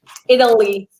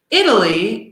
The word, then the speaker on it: Italy: Italy. Exactly, me too. So the sound of these two is surprisingly similar. Italy and idle.